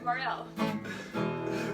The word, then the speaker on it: Morel: But yeah, sure, Morel. It rhymes with farewell.